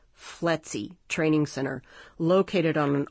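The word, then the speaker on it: FLETC: was held at a f LC pronounced fletzy Training Center located on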